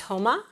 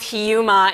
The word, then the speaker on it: Huma: people pronounce my name so my name is a persian name it actually is pronounced properly as houma h like as short u but most people have a hard time pronouncing it so i absolutely respond well i respond to both hiyuma and huma and uma i pretty much respond to everything but the proper pronunciation is houma and how important is